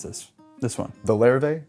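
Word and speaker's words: Larrivée: How do you pronounce this? This one? The Larrivee? Larrivee.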